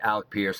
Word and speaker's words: Alec Pierce: Did I say his name I I feel like I said his name wrong a second ago. It's Alec Pierce, but man, Alec Pierce is legit.